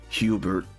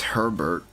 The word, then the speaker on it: Herbert: I I I mistakenly name him I m I mistakenly call him Hubert. It's Herbert. It's Herbert. His name was Herbert. I had missed uh I'm sorry Herbert for for mispronouncing for mis. I pronounced his name wrong.